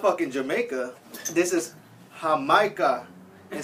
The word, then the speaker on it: Jamaica: If you can see, Jamaica. But hah-MY-kah. It's pronounced hah-MY-kah.